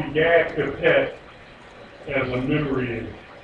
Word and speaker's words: Begad: You just put an E between them, and that way it's Begad. B-E-B and G-E-D, Gad, Begad, Begad.